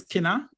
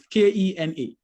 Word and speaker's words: Kena: My name is Kena. So Kena, it's spelled like, so you think of Kenya, and then you take away the YA, right? So it's Kena.